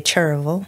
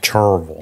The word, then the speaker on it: Cherryville: Cherryville, we say Cherville. Cherville. Yeah. It's a single syllable, five syllable word.